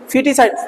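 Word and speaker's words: foetus: मर्डर ऑफ ए फिटस spelling F ओ ई टी यू एस लेकिन पढ़ा जाएगा फिटस मडर मडर मर्डर ऑफ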